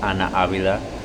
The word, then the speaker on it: Ana Avila: Her name is Ana Avila. That's how you say it in Spanish.